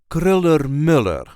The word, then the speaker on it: Kröller-Müller: non-typical pronunciation and although we pron ounce the O umlout correctly we kind of copy that for the U umlout as well which technically is incorrect there is a light emphasis on the first syllable of the second word kriller Miller K Mur